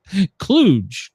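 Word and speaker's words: kludge: Cluj. K l u d g e pronounced cluj.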